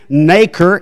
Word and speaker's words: nacre: I'm going to pronounce it nacre.